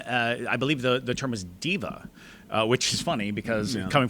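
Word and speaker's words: daeva: I believe the term is diva. Which is funny because coming from a theater background, we know some divas. But the divas there were, I believe they're spelled D-A-E-V-A, but they're pronounced divas, which is also demon, D-A-E-M-O-N, pronounced demon.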